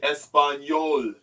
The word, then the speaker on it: español: And over here, Filipino, you say español, español, español, español, español. But in Spanish, it's spelled with the E-S-P-A-N-O-L with an accent mark on top of the N for español.